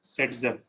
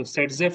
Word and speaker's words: Zaitsev: Okay, so Zaitsev is pronounced as Setzev. Okay, so Setzev is it's Setzev's rule. Okay, it is written as Zaitsevs, but it is pronounced as Setzev rule.